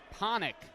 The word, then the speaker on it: Hanic: It's Hanic. Rhymes with tonic. Or Sonic.